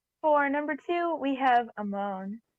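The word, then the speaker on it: Amon: number two we have ammon or amman as some people pronounce it amman was an incredible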